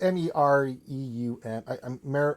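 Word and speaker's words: Meruem: the birth of the royal guards, and then Miriam. I can't say his name. Yeah, Myram. Miriam. I think it's Miriam. I don't. It's Mereum.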